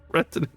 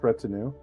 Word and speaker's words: retinue: to just be throwing retin at them am I pronouncing that correctly I think it's pronounced retinue okay March at the